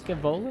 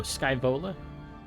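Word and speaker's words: Scaevola: then two the names it's scavola scavola you know got a event actually plan ahead for Stuff operation instead of charging blindly for glorion Valor like leg Mercado Marines yeah scavola is how you say okay yeah I oh Sky bowler Sky bowler right got it scaval Sky Vol better words specially names self-preservation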